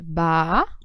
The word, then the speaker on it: baú: Na palavra baú, eu tenho um hiato, porque, veja, é baú. Tá? Aí você vai dizer assim, mas professora, baú é uma oxítona. É verdade, né? É a última sílaba é tônica.